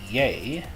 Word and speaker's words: ja: the vowels video, but if you have just a single syllable word and it ends on a vowel, it's going to be a long vowel. This isn't pronounced yaw, but ya, sound.